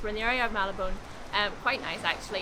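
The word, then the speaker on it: Marylebone: area called um how do you say it malabon yes we're in the area of malabon um quite nice actually it's obviously a very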